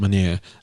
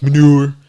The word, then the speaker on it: Maniere: That's how you say it, Maniere. I hate when people are like manure.